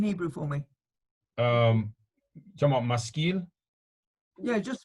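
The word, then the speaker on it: משכיל: Maskira, I mean to know. No, skill with the lamed at the end. So spell it in Hebrew for me. Talking about maskil?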